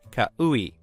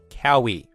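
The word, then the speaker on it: Kau'i: My name is spelled K A U apostrophe I. It looks daunting, but it's just pronounced kaoui. It's honestly not very difficult in my opinion. Also, I wouldn't have minded if people called me Kowi, like how it's spelled.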